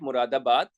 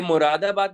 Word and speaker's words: मुरादाबाद: ये मुरादाबाद लिखा है, मुर्दाबाद लिखकर नहीं आना आप लोग, सही है? स्पेलिंग के लिए काफी केयरफुल रहना होगा आपको कि मुरादाबाद लिखा हुआ है, इट्स नॉट मुर्दाबाद।